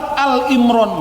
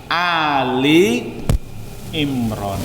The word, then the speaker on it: Ali Imran: Biasanya orang salah bacanya surat Al Imran, nggak ada Pak surat Al Imran itu. Al-Baqarah ada, tapi kalau Al Imran nggak ada. Yang ada apa? Ali Imran.